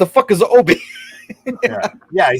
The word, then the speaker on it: Obi: the last you were talking about Abby even though it's clearly OB I've seen Star Wars I don't know why anyone would ever pronounce it otherwise um because they even